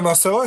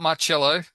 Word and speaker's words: Marcelo: No, it's Marcelo. That's right. It's Marcelo. It's not Marcello. If it was Marcello, it'd be spelled double L.